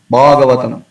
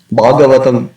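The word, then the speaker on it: भागवतम्: Bhagavatam, Bhagavatam. In Tamil devotees, they tend to pronounce ba instead of bha. So often they say Bhagavan or Bhagavatam. So it is not Bhagavatam, it's Bhagavatam.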